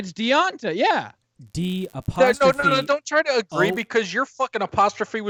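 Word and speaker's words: Devonta: apostrophe Ont a Foreman D D ' just pronounce that Dante no it's not it's deionta yeah d3 because you're apostrophe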